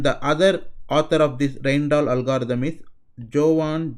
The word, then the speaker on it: Rijndael: so-called Ryan dollar algorithm so it's something the pronunciation look something like the rhein t da his children doll or some even consider is something like the Rain doll trend or something like that so so roughly this